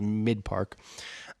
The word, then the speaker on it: Mic1park: whatever you want to say, but it is pronounced Mic1park.